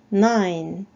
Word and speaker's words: nine: 뒤에 E는 발음이 나지 않습니다. 자, 발음은 nine, nine.